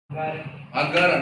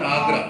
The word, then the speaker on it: Agara: How do you pronounce this? Agara, not Agra.